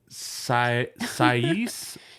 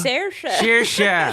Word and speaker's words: Saoirse: And then this is a tough name to pronounce. Maybe you guys know it. Sais Ronan? Do you know? Saoirse.